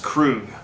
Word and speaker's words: Krug: name of the producer krug k-r-u-g pronounced crew okay they are a